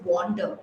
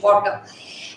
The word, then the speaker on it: wander: Oh, that wonder, WONDER is wonder. I wonder, doubtful, wonder. And this is wander, okay, pronunciation, wander.